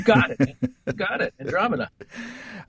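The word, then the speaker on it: Andromeada: Andromeda. It's spelled MEADA, but it's beautiful.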